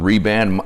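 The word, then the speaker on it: Rehband: So one of the wraps I get are called Reband. This is the one I use. It's worn out, but this is how it's spelled. It's called Ray, R-E-H, and then Band.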